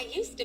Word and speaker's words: used to: Used to, D silent.